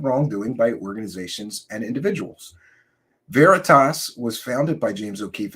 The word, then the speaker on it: Veritas: his work with project varitus O'Keefe and his team Veritas I'm sorry I always mispronounce it it's veritas uh James okay Keith